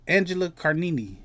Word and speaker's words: Angela Carini: This is Imane Khelif versus Angela Carini.